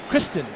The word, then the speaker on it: Christine: Kristen.